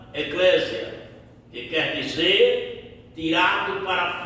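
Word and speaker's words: ἐκκλησία: Ela tem origem no no grego e quer dizer ela, a palavra em si é pronunciada eclésia, que quer dizer tirado para fora.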